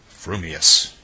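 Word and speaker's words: frumious: your mouth and speak if your thoughts incline ever so little towards fuming then you will say fuming Furious if they turn by even a hair's breath towards Furious you will say Furious fuming but if you have the rarest of gifts a perfectly balanced mind you will say fumus supposing that when pistol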